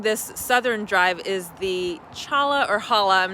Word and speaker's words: Cholla: Okay, the informational sign here says it's pronounced Cholla, and it says, unless you are a cactus